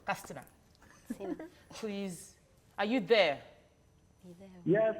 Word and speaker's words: Katsina: From Yes, that's Castina. correct. That's how it's pronounced. Castina.